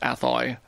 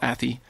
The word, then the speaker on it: Athy: Then the Athy, I think this is pronounced Athy, not Athy.